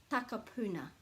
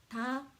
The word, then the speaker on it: Takapuna: As long as you put a break after every vowel, let's say it's takapuna, takapuna, takapuna, because you're remembering a, u, a, takapuna, you'll never get it wrong.